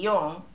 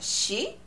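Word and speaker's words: 四: And there are some...Other pronunciations, like for example, zero, we sometimes use re, and yon, four can be yon or shi, nana and shichi, that's another number too.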